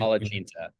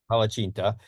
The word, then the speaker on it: palacsinta: I'll let you pronounce the name, which you Palacinta. Palacinta, Mhm.